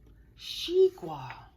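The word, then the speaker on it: xigua: about that oh I didn't say correctly it's pronounced she wha she Guara right there she gua is the Chinese name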